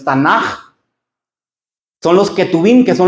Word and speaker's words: Tanaj: en vez de k algunos le dicen tanac, pero es tanaj son los ketubim, que